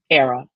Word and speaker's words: Airea: say it with me era rhymes with Sarah Sarah from the Latin